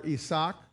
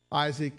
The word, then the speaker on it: Isaac: born some years before isach or Isaac excuse me was was born that was a little Spanish pronunciation that slipped out there it sometimes does that